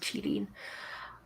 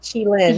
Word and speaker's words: qilin: So let's look at my notes on the Chilean, which I hope I've not butchered too horrifically. But yeah, so the Chilean are not technically unicorns, but that's primarily because the name. Sorry, Chilin.